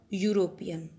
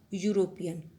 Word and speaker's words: European: Mohan is a European. Mohan is a European. Look here now. European sound is of Y. It means Y. Y sound.